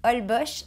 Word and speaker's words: Holbox: old boy au mexique ça s'écrit holbox ça se dit paul bosch ma vidéo est déjà